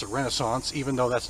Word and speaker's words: Renascence: They spell it R-E-N-A-S-C-E-N-C, so I'm going to pronounce it Renaissance, even though that's not the way you spell